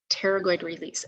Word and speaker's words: pterygoid: called the pteragoid release pterygoid release and that i wrote it down um so you could spell it out it's p is in pterodactyl so if you say